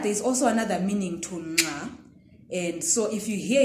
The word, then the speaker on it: nxa: In this lesson, I'm teaching you the Ndebele click nga. Okay. Here is how we pronounce it. Nga, nge, ngi, ngo, ngu. There's an N there, if you're hearing it.